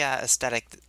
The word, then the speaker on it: aesthetic: Just, I know the word starts out spelling A-E, but that's not 2 syllables. That's 1 syllable.